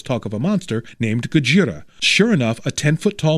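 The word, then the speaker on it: ゴジラ: week minus one warning I'm not going to mispronounce it Godzilla and pronounce it gajira and two I'm going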